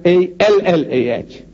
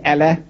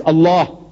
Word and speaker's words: Allah: it's spelled out a l a h we spell it as a l l a h that's a no man how you spell but